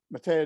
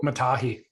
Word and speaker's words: Matahi: with um you know mateo trolley or however you say his name am i getting it right yeah uh so matahi matahi thank you and and i apologize